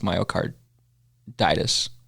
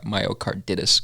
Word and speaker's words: myocarditis: after the podcast that told me I needed to pronounce myocarditis instead of myart myocard dtis cuz I sound like